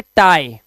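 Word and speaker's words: tie: इसी तरह से लाई, लाई मतलब झूठ बोलना होता है ना, पाई, पाई, और ये टाई, टाई।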